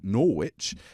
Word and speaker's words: Norwich: It's written Norwich, but it's pronounced there's there's a silent letter. It's a Korean over here. Norwich.